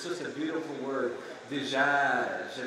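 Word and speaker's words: دجاج: Dijaj, if you pronounce it in the Levantine style, not Egyptian. Of course, it means chicken. That's what that word means, dijaj, chicken. In Egypt, they would say digag, not as pretty.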